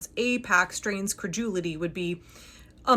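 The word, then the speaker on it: AIPAC: I I don't even know how it's pronounced. Apac IPAC that is funding this show or other creators.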